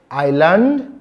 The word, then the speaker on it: island: We have it silent in words like island. The word is island, not Island.